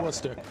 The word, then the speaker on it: Worcester: called it Worcester, and they said, They "What?" corrected you. Yeah, they Yeah, corrected me. I'm It's sure. Worcester.